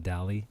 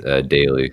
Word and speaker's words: Daly: What about the last name? Dali? It's Daly. Just pronounce it Daly.